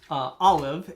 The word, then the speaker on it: Aleph: The Hebrew letter associated with the Fool is Aleph, A-L, or I think I'm pronouncing that right.